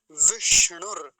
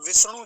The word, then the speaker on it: विष्णु: भी तो ध्यान रखेंगे विष्णु नहीं तो विष्णु चलता है लोगों का दंती सकार बना देते हैं दंती सकार नहीं होगा ना तालव्य सकार कैसा